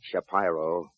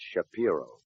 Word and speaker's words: Shapiro: It's not Shapyro. It's Shapiro.